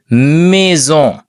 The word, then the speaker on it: mai: ஆ ஈ என்று சொன்னால் ஏ என்று உச்சரிப்பை நான் சொன்னால் அப்ப ஏ என்று பார்த்தீங்க என்றால் இது மே என்று வாசிக்கும் ஓகே மே மே என்றது